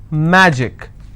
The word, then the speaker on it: magic: Magic, I will stress on ma.